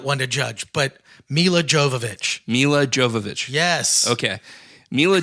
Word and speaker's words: Milla Jovovich: that bad there's no story like there's a Melia Jovovich she shows up in old age what you're that pronunciation but Jove Oh looky look look you